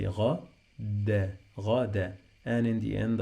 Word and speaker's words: غدا: When you find this combination, any word in Arabic that has in the end two fathas and the alif, we pronounce noon. We add noon, sound of noon to the end of the word.